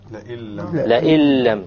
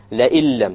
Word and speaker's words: لَئِن لَّمْ: لَئِلَّمْ. Exactly, okay? لَئِلَّمْ. So we have over here the noon sakina followed by a lam. And when we have this, then we drop out the noon and we pronounce it